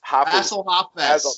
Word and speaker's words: Hafez: And I will tell you that how do you pronounce his name? It's Hafez. Basil Hafez.